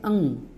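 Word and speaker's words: ङ: इसकी स्पेलिंग है ANGA, अंग। इसका साउंड है अंग, ठीक है।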